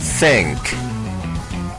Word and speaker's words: thank: Por ejemplo, La T y la H juntas en la palabra thank. Thank. Como cuando decimos thank you. Se pronuncia th, con la lengua entre los dientes.